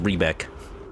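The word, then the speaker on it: Riebeck: It's pronounced Rebek.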